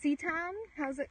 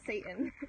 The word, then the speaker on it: seitan: It's like actually, oh, seitan? How do you say it? Seitan? Not Satan.